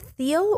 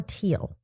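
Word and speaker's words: Thiel: pronounce it is it theal or teal I have to imagine that H is silent that's what my gut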